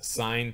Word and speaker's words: sine: uh here of course s i n we pronounce as sine theta this ang this function